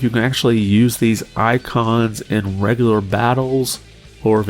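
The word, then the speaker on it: Eikons: the end of this presentation we're on the icons and that's spelled e-i-k-o-n and this is basically like your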